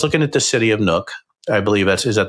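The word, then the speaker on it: Nuuk: So I was looking at the city of Nuke I believe that's is that the proper pronunciation? Nuke Nuke.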